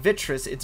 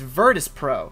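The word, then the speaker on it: Virtus.pro: was saying it wrong i was saying Vittra sits virtus pro virtus pro they lost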